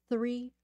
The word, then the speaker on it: three: tree tree tree tree so the difficulty is th 3 and then just a t right three trees three trees this sound right here is very very difficult th there's that pronunciation